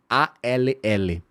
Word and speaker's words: all: Tudo se escreve A-L-L, mas se diz all.